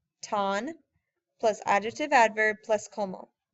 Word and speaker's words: tan: or adverb plus KO do not say tan y'all know how to pronounce these vowels t a ton plus adjective adverb plus